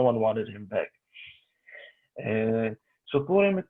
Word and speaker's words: Purim: Arab language, from Arabic, to pronounce the P in Purim. So if you pronounce Purim with that accent, it's Burim.